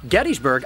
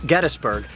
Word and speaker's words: Gettysburg: Even the town that I'm standing outside of, Gettysburg, I am saying incorrectly because by every account, the founder's name was James Geddes. Not Geddes, but Geddes, and therefore this is properly pronounced Gettysburg, not Gettysburg, but I haven't gotten over that one yet.